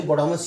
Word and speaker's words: VBODMAS: वीबोडामस क्या होता है, देखिए वीबोडामस ना, एक खाली बोडामस ही बोलेंगे, वी इधर साइलेंट है।